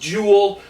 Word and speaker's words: Joel: guy juel Ericson e it looks like Joel but it's pronounced Jewel which makes me think